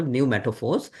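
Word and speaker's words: pneumatophores: Then uh if you look at uh this one, this is uh called new metaphors. P is silent. So we call new metaphors.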